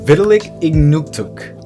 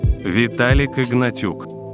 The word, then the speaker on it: Vitalik Ignatiuk: Kak Shidelik and Vitalik Ignuktuk. Actually, my друг, that was not even slightly close. To native русский the channels are pronounced. Как сделать? And Vitalik Ignatiuk in the American language.